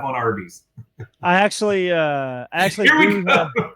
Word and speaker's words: Arby's: And originally they wanted to call it Big Tex, but they ended up choosing Arby's, which was a phonetic pronunciation of the letters R and B, short for Raffle Brothers.